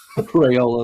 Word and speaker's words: Raiola: Raiola, how do you say his name? Raola.